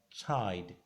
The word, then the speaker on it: chide: The C and H gives us ch again. Letter I sounds I. The letter D there, the letter E is silent, so we have chide.